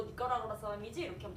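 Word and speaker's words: Nicaragua: 니카라구아라고 읽으셔야 되겠죠. 니카라구아라고 가끔 쓰는 사람들도 있긴 하는데 원래 정식적인 발음은 우, 아 둘 다 강모음이라서 사실 우는 저 양모음이지만 발음해 주셔야 되기 때문에 니카라구아 라고 발음하시는 게 맞습니다.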